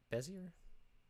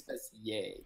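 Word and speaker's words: Bézier: Is it Bezier? Is that how you pronounce it? I think it's Bezier because Bezier. He was French.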